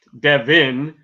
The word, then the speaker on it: Devin: Devin is pronounced like how I spell it, so Devin and Devon are different.